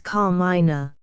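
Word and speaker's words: Carmina: Christian name she proceeded is car minina put the accent if you please on the first syllable the moment Mrs GLE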